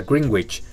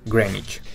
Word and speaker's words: Greenwich: mismo con esta ciudad si tenemos green y which uno pensaría que se pronuncia greenwich en realidad es grey nyc finalmente en inglés es